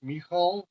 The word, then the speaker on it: Michał: pronounce your name no in Polish it's me Hall okay in Russian Michelle